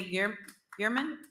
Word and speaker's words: Gehrman: Next, we have Gearman. Please state your name and county your residence, and you'll have 3 minutes to speak. You said it right. It's Gehrman, Gehrman, Knox County, District 1.